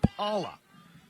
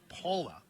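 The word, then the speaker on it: Pala: Swinging to Miss Whe is actually Paula. P A L A pronounced Paula.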